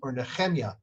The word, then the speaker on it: Nehemiah: last uh portions from nehemiah or nehemiah that is as it is pronounced in hebrew uh there he nehemia